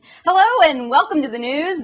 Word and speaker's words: Gnooze: and welcome to the news the g is silent Iranian president mmud amadan